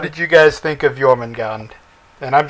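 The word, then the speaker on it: Jörmungandr: you guys think of yman gon and I'm just gonna say yman gon because I believe that the J is a y sound yeah so why oh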